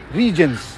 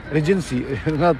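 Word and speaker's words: Regent's: Regents. Yes. Someone said Regency. not right. Regents.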